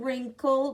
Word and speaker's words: wrinkle: In wrinkle, W-R. Notice in wrinkle and in who, the W is silent.